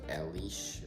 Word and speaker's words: Alice: talk to his secretary Alice or they say it's pronounced Alish or something and she is seemingly